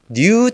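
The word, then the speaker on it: ν: 이거를 제가 new T 이거는 new라고 읽어요. 그릭 월드로.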